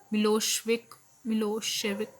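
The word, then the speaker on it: Milošević: So, a narrow minded Serb nationalist, Milosevic, pronounced Milosevic, had won the election.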